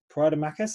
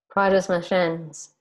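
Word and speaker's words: Praia das Maçãs: So we, as we've been talking about, we're doing the retreat in Praia de Macas. How do you pronounce that? Praia das Macas. There we go. From the local.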